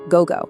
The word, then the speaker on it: gogo: is gozen, pronounced gozen, and p.m. is gogo, or gogo.